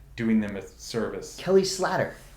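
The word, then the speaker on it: Slater: Kelly Slatter. That's how he told me he wants his name pronounced. Slather. Yeah, Kelly Slather.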